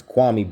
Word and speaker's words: Kwame: level that they're in kwame or excuse me kwame i gotta get it i have to get it right it's kwame brown stephen a smith it's kwame you can't even pronounce kwame brun you can't pronounce kwame you call him kwame it's just it's it's